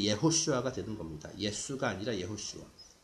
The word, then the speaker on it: 예호슈아: 뭐 영어식으로 하면 이제 제호슈아지만은 그 이제 성경에 나온 이런 이름들 이제 J는 이제 Y로 발음을 하거든요. 그러니까 이제 예호슈아가 되는 겁니다. 예수가 아니라 예호슈아.